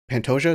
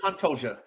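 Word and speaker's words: Pantoja: I don't know if I've seen Pantosia. Is that Is that how you said it right or or No. Yeah, you said it. Yep, you got it. Alexandre Pantoia.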